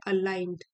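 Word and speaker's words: aligned: जी यहाँ पे साइलेंट है, अलाइंड।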